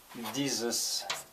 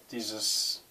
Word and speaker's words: dieses: Dieses S very often has a sound of Z, but not always. Dieses, at the end, I think it doesn't.